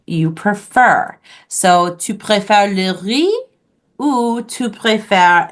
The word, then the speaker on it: le riz: So for rice in French, it is pronounced le riz.